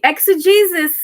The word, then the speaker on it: exegesis: Exegesis? Oh man, I gotta look that up. Yeah, let's see how you pronounce it. I had it right.